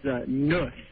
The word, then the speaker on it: Nuss: He said that, it's a German product, and they pronounce nut as nuss.